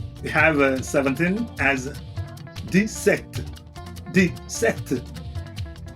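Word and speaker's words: sept: Then we have seven as set.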